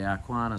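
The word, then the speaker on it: Arqana: We've made the call that we're going to have a look at the French sale, the Arquana sale, starting on Monday night. That's a good pronunciation.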